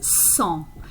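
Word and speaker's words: cent: So you already know that the number for 100 is 100. Okay, so you have a nasal vowel in the middle and a silent T at the end.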